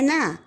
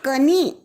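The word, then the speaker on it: knee: उच्चारण ही नहीं होता सो के एन ई ई इज नॉट कनी इट इज नी के को हमने उसका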